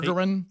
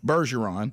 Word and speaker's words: Bergeron: His name should be, for us to say it right, Berjeron. Yeah. Bergeron. Kind of like our name. And see, because Burgess should really be spelled with a J.